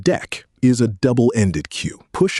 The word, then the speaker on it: deque: The deque, pronounced deck, is a double-ended queue.